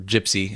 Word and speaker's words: GPCI: You guys are you know always pushing for the uh the 1.0 work uh you know GPCI floor or gypsy as you uh I heard it pronounced.